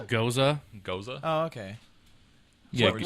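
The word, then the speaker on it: Gose: It is pronounced Goza.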